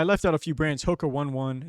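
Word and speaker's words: Hoka One One: out a few brands hookah 1-1 is how you say that yeah not even joking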